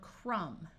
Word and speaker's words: crumb: this lesson is optional if you have MB at the end of a root word the B is silent like in the word crumb but sometimes the B